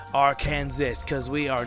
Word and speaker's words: Arkansas: pronounce our state's name it's arkansas with three syllables and you gotta have an a at each syllable and you gotta have the s be silent you cannot say our